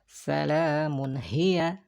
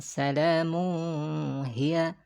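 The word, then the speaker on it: سلام هي: juga jelas dan pendek Salamun Hiya Salamun Hiya itu ya bukan salahmu hias atau Salamun I heard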